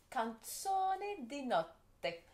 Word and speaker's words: Canzone di Notte: Je ne l'ai pas bien prononcé. Alors, hein? Canzone di Notte. Alors, Canzone di Notte.